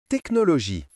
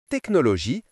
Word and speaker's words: technologie: Les lettres ch ensemble font parfois le son que dans certains mots comme orchestre, chronomètre, technologie. Que comme dans orchestre, lisons ensemble. Que orchestre ? Que comme dans chronomètre. Lisons ensemble que chronomètre.